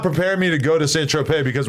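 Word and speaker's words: Saint-Tropez: me to go to S Trope because when I went there I pronounced it San Tropez it is I'm sorry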